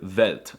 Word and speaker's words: Welt: For some reason, they pronounce the W's with a V sound, like in the word Welt, and they pronounce the